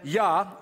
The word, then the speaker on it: Jah: that's praise and then yah j a h the j is pronounced with a y sound so is uh the